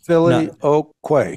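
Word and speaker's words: Filioque: word like Philo um which is just what four syllables I guess I just had to run it through my brain four syllables Philly o Quay yes four yeah yeah and actually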